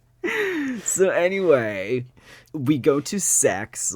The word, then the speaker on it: CeX: For context, it is spelled CEX. It's like electronic exchange, but I don't know why they call it Sex.